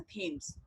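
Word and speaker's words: Thames: अब यहाँ पे देखो लंदन में जो है थेम्स नदी है, इसको हिंदी में प्रोनाउंस टेम्स होता है और इंग्लिश में प्रोनाउंस होता है थेम्स.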